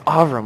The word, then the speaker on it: Avram: I was like, they said Avram last night, and it's Avram. Like they always say it wrong.